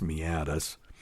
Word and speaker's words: meatus: when it gets to the end at the meatus which is spelled m me a t s so it's spelled meus but it's pronounced meatus once it gets there it's it really is